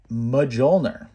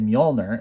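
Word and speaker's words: Mjölnir: thor cartoon growing up i always pronounce this as majolner right it wasn't until the thor movie came out and they said mjolnir and i was like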